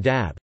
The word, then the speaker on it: dąb: For example, A in dab, oak, is pronounced M, and E in texa, rainbow, is pronounced N.